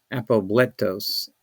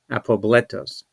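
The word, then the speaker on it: ἀπόβλητος: So the word is pronounced apobletos, Apobletos in English, apobletos.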